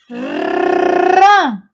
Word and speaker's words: rã: Esse N, ele entrou nessa sílaba aqui, aí confundiu tudo. Por quê? Aí é uma sílaba agora nasalada. O som dessa sílaba vai sair aqui pelo meu nariz, ó.